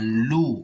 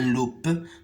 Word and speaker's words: loup: bougie l'eau un loup le P ne se prononce pas ici un loup on dit pas un loupe mais on dit un loup et roue une